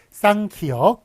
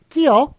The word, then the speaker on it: 쌍기역: 된 소리는 쌍자 붙입니다. 그래서 쌍기역 이런 식으로 읽어야지 끼역 이런 식으로 읽으면 무식하다는 소리 듣는다.